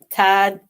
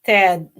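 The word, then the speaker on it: Thad: Tad. Todd. But actually it's spel it's pronounced Ted.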